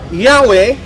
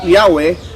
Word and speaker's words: Yahweh: 20 sabi rito ah yahwe is admittedly superior to Jehova Yun daw K ang pag-uusapan ay bigkas ng pangalan ng Diyos mas superior daw yong yahwe kaya sa Jehovah the wrong spelling Jehovah occurs since about 1100 a and then It offers its argument in favor of Yahweh as the correct and original pronunciation so mismo doon sa